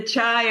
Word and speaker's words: chi: CH running so the the chai or the chi whichever way you want to pronounce it it's the flow of